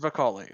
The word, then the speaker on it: Vicolli: has come to uh I I keep it's pronounced violi okay I always I want to make sure